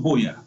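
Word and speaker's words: Buea: And then secondly, I want to appeal to donations also of what we call my trip to Boya.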